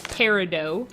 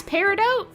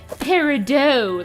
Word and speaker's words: peridot: Okay, that's peridot? Peridot. I don't know why, but my brain wants to not pronounce the T in peridot. It wants to say peridot, like I'm French.